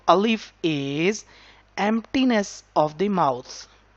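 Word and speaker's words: ألف: letter, so we are not touching our tip of tongue, our middle of tongue, back of tongue, anywhere. So just sound comes from the emptiness of the mouth.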